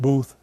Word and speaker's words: Beath: It turns out that Boothbay may very well have been named for Walter Booth, or Beath, pronounced Booth, who arrived from the north of Ireland.